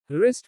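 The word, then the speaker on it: wrist: W is silent before R or in some words. जब W R के पहले आता है या कुछ अन्य शब्दों में तो W का उच्चारण नहीं होता। राइट लिखना। रिस्ट कलाई।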